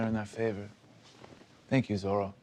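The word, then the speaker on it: Zoreaux: Thank you, Zorro. It's actually pronounced Zorro. Zorro. Why? Because that's how my parents say it, I guess.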